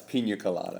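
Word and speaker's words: piña colada: No, it's pina colada. It's pina. Please, pronounce it. It's got the squiggly line above it.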